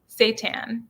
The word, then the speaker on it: seitan: Seitan.